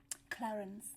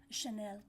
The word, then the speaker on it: Chanel: no is that how you say it um Clarence no Chanel yes oh I was really like I'm getting